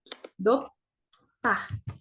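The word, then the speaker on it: 덥다: panas itu bahasa Koreanya dop tah dop ta gitu nah ini kan ada B terus sebelahnya D ya kita bacanya pakai T depahya panas gitu tuh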